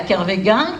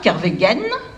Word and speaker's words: Kerveguen: puis il ya aussi des prononciations extrêmement différentes il ya kervéguen kerveguen et puis l'autre jour à